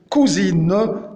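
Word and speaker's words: Kusine: Et c'est pour cela le C se prononce K comme cousine, cousine, cousine.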